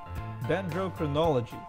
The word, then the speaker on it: Dendrochronology: No, Dendrochronology. There you go. Let me spell it first.